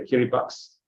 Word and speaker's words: Kiribati: that has happened in Kerry box kiribatius but pronounced at the Kiri box uh in the South